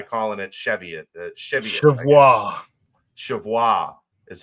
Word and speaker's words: Cheviot: Chevois is how it's supposed to be pronounced.